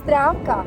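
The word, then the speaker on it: Zdravka: locals and asked some questions my name is drakka how do you spell that z-d-r-a-v-k-a which means like let's say in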